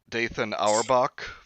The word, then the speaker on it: Dathan Auerbach: Written by, I don't know if I'm saying this right, Dathan Auerbach. Yeah, it's spelled like Nathan just with a D, so I'm assuming.